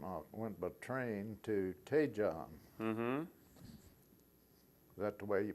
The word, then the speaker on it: Daejeon: From Busan, I went by train to Daejeon. Is that the way you pronounce that?